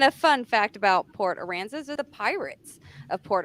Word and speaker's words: Aransas: Aransas.